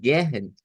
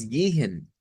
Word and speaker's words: gehen: Entonces, esto no es como, si lo decimos así, podríamos pensar que es como gehen, pero es más gihen, gehen, con gi.